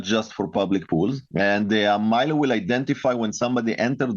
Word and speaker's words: Mylo: So with that in mind, talk to us about Milo. And for our listeners, it's spelled M Y L O.